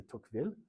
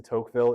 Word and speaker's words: Tocqueville: His name is Alexis de Tocqueville, or Alexis de Tocqueville in the more kind of colloquial English pronunciation.